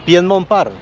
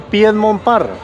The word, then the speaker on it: Piedmont Park: Bueno, ahora estoy ubicado aquí en Piedmont Park.